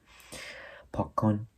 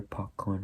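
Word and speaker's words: پاک‌کن: Pakkon, eraser, pakkon. One more time for the pronunciation, this is a tricky one, pakkon.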